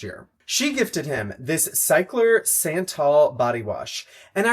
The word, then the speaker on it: Cyklar: famously filmed an entire video calling it Skyler, and you're never going to see that video because I said it wrong the entire time. When I first heard about Cycler, it was actually from